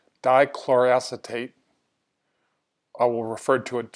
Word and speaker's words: dichloroacetate: to the vlog post about make sure I pronounce this correctly dichloro acetate I will refer to it simply as DCA